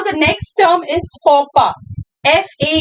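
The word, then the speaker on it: faux pas: The next term is for F A U X P A S F A U X P A S X is silent. S is silent.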